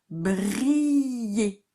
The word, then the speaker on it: briller: Briller. Et le et à la fin de briller, c'est ER. Pour faire et, on met ER.